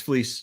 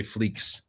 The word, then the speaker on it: Fleecs: you said it right it's fleece but most people say fleeks ah okay I was